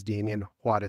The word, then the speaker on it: Damien Juarez: For those of you who are maybe wondering, my name is Damien Juarez. That's how you pronounce it.